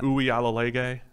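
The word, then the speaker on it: Uiagalelei: Can I get a pronunciation on DJ? What's not that? Uyalalege.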